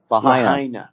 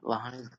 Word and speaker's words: Lahaina: Lahaina. Lahaina. Lahaina.